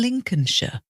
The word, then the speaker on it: Lincolnshire: you have Lincoln and Lincolnshire this is like Abraham Lincoln US president l i NC o l n with that one you just pretend the L isn't there and some British place